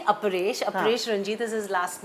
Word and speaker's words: अपरेश: दे इदर call him Arpesh और they call him Paresh. And it's actually अपरेश।